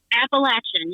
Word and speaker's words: Appalachian: Appalachian.